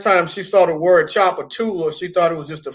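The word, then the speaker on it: Tchoupitoulas: She was like, there's no way that's pronounced Chapatulas with a silent T.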